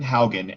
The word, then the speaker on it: Haugen: i hate this because my last name is not phonetically uh pronounceable and spellable so uh my name full name was haugen and the last name